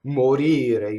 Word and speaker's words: morire: Morire, you see it's on the second to last syllable.